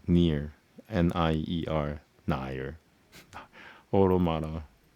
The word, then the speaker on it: Automata: Automata. It's like automate with the A at the end.